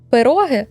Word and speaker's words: пироги: Бразилії вареники або ж як їх тут називають пироги з наголосом на другому складі є як і звичні